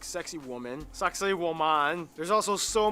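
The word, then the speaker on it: Sacsayhuamán: This one, you're kind of supposed to pronounce it like sexy woman.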